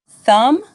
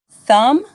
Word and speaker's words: thumb: you'll get the hang of it examples of silent letters silent k knife KNE no repeat after me knife knee no silent B thumb lamb climb repeat after me thumb lamb climb silent W right wrong wrist repeat